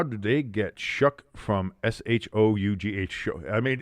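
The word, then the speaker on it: Shough: The name Shuck, S-H-O-U-G-H, specifically referring to Tyler Shuck, is pronounced Shuck, rhyming with luck or truck, not show like you would imagine.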